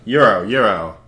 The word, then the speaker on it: gyro: Gyro. Gyro, whatever. Euro. Like the money. I don't know, I see the G every time. I'm like, gyroscope? Because that's how it's spelled. But yes, the Euro.